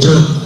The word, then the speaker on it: June: That's why June, not John in pronunciation.